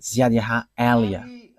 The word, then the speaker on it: YAHVAH Eliah: And that is not a Malagasy name, but that is a name from us, and that is my name, so I pronounce it as my father pronounced it, YAHVAH Eliah.